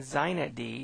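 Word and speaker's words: xinetd: first off there's inet d inet d and zinet d is how this is pronounced are super servers these applications on a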